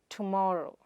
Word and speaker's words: vegetables: It is not vegeetable or vegetaable but, vej-ta-ble.